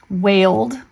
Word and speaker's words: wailed: Wailed. The child wailed. It just sounds like duh.